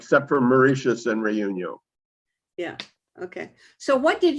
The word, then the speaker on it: Réunion: Reunion, yeah.